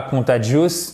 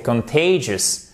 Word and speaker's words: contagious: C'est pas contagious, non, c'est contagious. Contagious, contagious. Et comme d'habitude, on repère